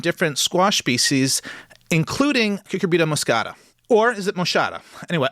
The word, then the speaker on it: moschata: do you pronounce Cucurbita moscata? With a soft CH like sheep or a hard CH like cake? And Michael wrote back, in English, like sheep.